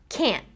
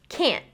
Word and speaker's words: can't: to hear that difference, can't in fast speech will kind of just sound like can, because that final t is not fully produced, right? It's only halfway being pronounced. So can't sounds more like can't, can't. Can you see that I finished the word with the tip of my tongue still on the roof of my mouth?